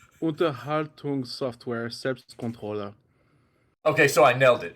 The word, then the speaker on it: Unterhaltungssoftware Selbstkontrolle: Hey, so it's pronounced Unterhaltungssoftware Selbstkontrolle.